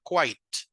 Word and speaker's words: quite: Ok, Eh, este no es kit, ¿verdad? Hace un ratito lo dije, ¿cómo se pronunciaba? Quite.